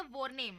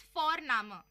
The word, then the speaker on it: Vorname: और हम यहाँ पे फोरनामा प्रोनाउंस करते हैं बट लिखते हैं उसको VORNAME. ओके, तो वो हम इंग्लिश के अनुसार प्रोनाउंस करेंगे तो बनेगा वॉरनेम, बट नो, इट्स फोरनामा.